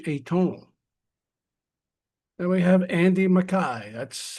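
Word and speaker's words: Andy Mackay: Then we have Andy Mai, that's how his name is pronounced, whose saxophone and oble work adds delicate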